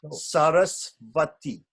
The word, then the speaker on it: Sarasvati: breath in bengali you're saying but it's actually sarasvati yeah but but in bengali people say we want to get the sanskrit pronunciation and the bengali pronunciation is going to